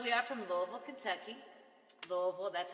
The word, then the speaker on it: Louisville: heard it so we are from louisville kentucky louisville that's how you pronounce louiseville and we are living in the hoosier national forest right here in southern indiana right south of 64.